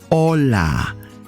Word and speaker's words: hola: learn how to pronounce properly hello in spanish hola o la hola don't forget to subscribe hola do not say hola or holla the pronunciation the correct pronunciation is hola can you say it hola hola or live